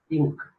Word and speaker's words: Inc.: limited companies are abbreviated in their name as Inc. It is pronounced as Inc.